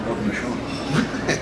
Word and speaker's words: Haudenosaunee: How do you spell it? H-A-U-D-E-N-O-S-A-U-N-E-E.